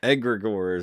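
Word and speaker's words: egregore: you pronounce that word egregor egregor not dementus it's like Gregor but he's egregor he's an EG egregor but anyway look at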